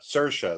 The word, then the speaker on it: Saoirse: Saoirse, that's what it is.